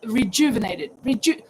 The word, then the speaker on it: rejuvenated: I think definition of rejuvenated, and you pronounce it like Jewish, rejuvenated, Okay, thank you, Killian.